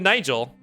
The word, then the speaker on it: Nigel: Did you just pronounce Nigel with a hard G? Nigel. I did. I did not do that. No, I said Nigel.